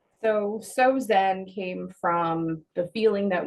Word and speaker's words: SoZen: um we are not sosan we are not Susan we are soen soen nice and where did you come up with that name so soen came from the feeling